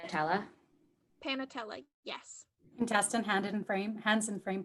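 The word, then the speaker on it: panatela: Panatella, yes.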